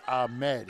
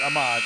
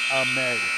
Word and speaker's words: Ahmed: We mispronounced the name. Laith Ahmed, not Ahmad. Ahmed.